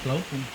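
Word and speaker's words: Blaupunkt: Kalau merek sana kan memang namanya nyebutnya blaupung. Blaupung. Blaupung. Kalau Philips itu Belanda mas. Belanda. Itu Belanda. Jerman. Philips kan bacanya Philips.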